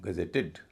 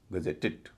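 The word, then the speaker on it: gazetted: तो इसका मतलब यह हुआ मूल शब्द यानी गजेट के उच्चारण में कोई अंतर नहीं आएगा। इसको बोला जाएगा गजेटेड। इडी का उच्चारण इड होगा। गजेटेड।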